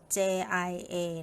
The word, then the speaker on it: 家: หรือ ครอบครัว พี่ นิล เขียน ว่า jia นะ คะ J คือ พยัญชนะ สระ ผสม ก็ คือ I กับ a นะ คะ เป็น เสียง E กับ R ผสม กัน ค่ะ อย่า นะ คะ ออก เสียง ว่า อย่า เสียง ที่ 1 นะ คะ วรรณยุกต์ จะ วาง ไว้ เหนือ สระ a ค่ะ ที นี้ เรา มา